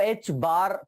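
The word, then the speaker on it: h-bar: अब ये जो तुम्हारा लिखा हुआ है इसको h बार पढ़ते हैं। क्या बोलते हैं बेटा? h क्रॉस जो दिख रहा है ना, इसको क्या पढ़ते हैं? h बार। कैसे प्रोनाउंस करते हैं? h बार बोलते हैं।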